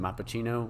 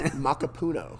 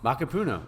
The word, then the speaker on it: Macapuno: to butcher it, but is it Mappuccino or something? It's close. It took me a week to say it right. It's Macapuno. Macapuno, okay.